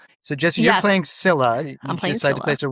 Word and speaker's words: Scylla: No, we're going to say Sila today, you know, and they're the classic rock in a hard place.